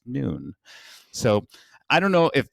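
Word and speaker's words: नुन: translation is actually pronounced noon it is spelt a little bit differently by the way it's not n-u-u-n it's n-u-n like none but it's actually pronounced noon so i don't know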